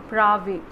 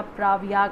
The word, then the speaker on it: Pravaig: अच्छा, ये जो बेंगलुरु बेस्ड वेंचर है इसका नाम जो है वो है प्राविक या प्रावियाग, आप कह सकते हो इसको, जो भी आपको अपने हिसाब से इसको प्रोनाउंस करना हो, ठीक है।